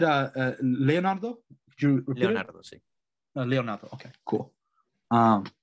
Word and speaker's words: Leonardo: nice uh talking to you leonardo am i pronouncing nonsense right is it leonardo or is it leonardo i don't is it it's leonardo but i think you you can call me